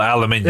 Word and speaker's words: aluminium: If you look up the correct spelling of it, it is spelled aluminium. It's pronounced aluminium. Aluminum. It really is pronounced aluminium. It really is pronounced that way.